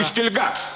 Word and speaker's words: пустельга: А не помню, как там ударение ставится, пустельга или пустельга. Пустельга.